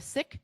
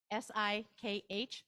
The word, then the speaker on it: Sikh: We've got some people who are maybe religious, wearing that might be a Sikh turban, S-I-K-H, Sikh, not Sikh is how that's pronounced.